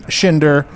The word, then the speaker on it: Schinder: Stephen Schinder, last name rhymes with Tinder.